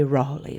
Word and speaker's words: Raleigh: him this broad reception raleigh raleigh true enough for i think of the very rawley mon there is also an enigma contained in a distinct written by a lady of the times which preserves the real pronunciation of the name of this extraordinary man what's bad for the